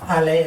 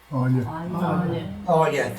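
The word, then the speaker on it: Aille: is a tributary of Ale, I think, is that how you pronounce it? Olja, thanks.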